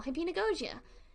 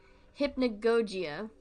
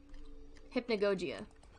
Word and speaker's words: Hypnagogia: from the game's title hippie nagojia and you pronounce it hip hipnagogia I've been saying it wrong this entire time hypnagogia hypnagogia got it hypnagogia I thought I